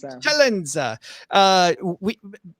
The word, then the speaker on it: Celenza: I like that pronunciation of my last name. Tell me if we can't. Well, I got to do the Italian. I got to, bring it. Celenza.